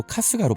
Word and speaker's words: 春日: 여기서 춘일, 이 발음이 바로 카스가로 발음된다는 점을 발견한 거예요.